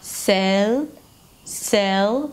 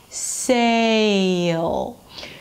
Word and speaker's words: sale: But then for the a as in day, you have a shift from one sound to another. It's a diphthong.